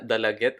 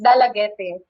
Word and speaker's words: Dalaguete: The proper pronunciation, according to my history teacher, is Dalaguete. And even Dalagete. sa mga official, yes, even sa mga official communication sa amo ang municipality, it's pronounced as Dalaguete.